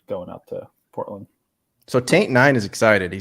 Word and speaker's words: Taint9: So Taint9 is excited. He says, I'll be there. I can't wait. P.S. My name is pronounced Saint. It just has an X.